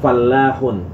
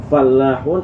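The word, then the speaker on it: فلّاح: ada juga yang EE Falah itu ditambah dengan tasydid bacanya fallahun Ya kalau ini kan falahun enggak pakai tasydid tapi kalau dipakai tasdid lamnya fallahun itu artinya petani ya jadi jangan salah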